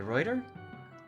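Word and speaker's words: Ruyter: dutch fleet yeah yeah so bye deruda okay reuter that's how you pronounce it oh there's a fire on the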